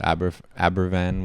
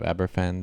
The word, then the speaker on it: Aberfan: It seems like you did, especially the Abervan one. I saw you guys were correcting. It's not, you pronounce it with a V. They were saying the Abervan instead of Aberfan, the disaster with the coal.